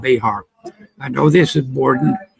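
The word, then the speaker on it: Bexar: It asked for Bayar. Someone tells me that's pronounced bear.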